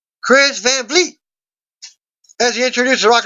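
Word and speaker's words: Kris Van Vliet: she screams and he Wayne float blows out a bunch of candles in front of her during the seventh I've been pronouncing this guy's name wrong I do apologize it's a Kris Van Fleet as he introduced the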